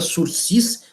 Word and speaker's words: sursis: Na prisão penal, ele for condenado, e aí o juiz conceder a ele o sursis penal, sursis, que é uma palavra francesa, se escreve sursis, mas se pronuncia sursis, né?